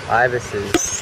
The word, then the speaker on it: ibis: oh there he goes what a crazy guy ibises that's what they're called i was wondering what they were it's pronounced ibis